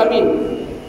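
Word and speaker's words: آمين: empat cara nak sebut Amin pertama Amin a tu dua harakat Min tu enam harakat Amin tu bacaat pertama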